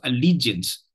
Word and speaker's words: allegiance: It's a three-syllable word, and I told you the three-syllable words, if the third syllable is stressed, it is usually a word of French origin.